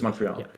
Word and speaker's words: Montreal: But in English it's Montreal. You pronounce the R.